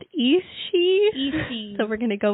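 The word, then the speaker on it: Aos Sí: So, it's spelled Aos Si, so 2 words. And I think it's pronounced Ishi.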